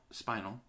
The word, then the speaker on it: spinel: But it's spelled S-P-I-N-E-L. I would pronounce it as spinal.